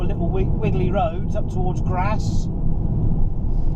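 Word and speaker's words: Grasse: We're getting on some proper little wiggly roads up towards Grass. That's not me putting on a northern accent, that is how it's pronounced, I believe.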